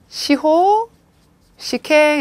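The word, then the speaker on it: 司法試験: 시호, 시행 이렇게 읽어주세요.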